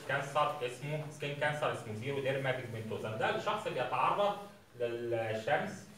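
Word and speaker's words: xeroderma pigmentosa: الزيرو ديرما بيجمنتوزا او سيرو ديرما بيجمنتوزا، الاكس لما بتيجي في اول الكلام كده بتتنطق زد، زيرو ديرما بيجمنتوزا.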